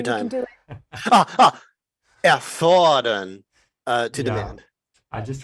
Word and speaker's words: erfordern: Erfordern, to Yeah. demand. I just want to make sure you got the pronunciation right, and for everybody to notice the